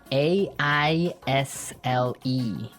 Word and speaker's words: aisle: spelled so strangely right we don't pronounce the s the S is silent that's true aisle so